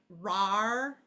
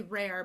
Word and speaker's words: rare: So like instead of this word being rar, it has to be rare because the silent E is stronger than the vowel R here.